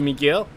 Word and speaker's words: Miguel: By the way, in Spain, the U in my name is silent. So Miguel.